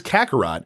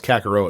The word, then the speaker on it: Kakarot: and that is Kakarot whenever I see it a word at an are ot my dumb hockey brain always wants to pronounce it with a row sound so I thought its kokoro at first but it is not in his category i